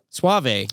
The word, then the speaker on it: Suave: And I said, it's Suave. Oh, boy. Like Yes. Rico Suave.